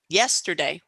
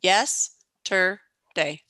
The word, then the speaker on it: yesterday: is the stress syllable yesterday again stress on yes tur or day one two three yes tur day if we were in